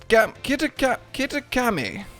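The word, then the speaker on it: Kitakami: the land of kitten kittakami that's actually how you pronounce it those like three attempts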